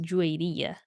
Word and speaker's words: Juwairiya: My name is Juaria, but it's an Arabic name, so in Arabic it's pronounced Juwairiya.